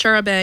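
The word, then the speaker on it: charabanc: an early form of bus wikipedia says it's pronounced Shara Bey and colloquial British England and it was an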